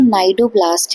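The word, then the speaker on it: cnidoblast: बोलेंगे नेमेटोमोरफा है ना इसको हम बोल रहे एन से हैं बट एक्चुअल में इनकी स्पेलिंग सी से शुरू होती है अब ये जो नाइड ब्लास्ट है यानी जो हमारे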